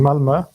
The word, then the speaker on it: Malmö: Is that right pronunciation, by the way? I never know how to say it. Is it Yeah, Malmö.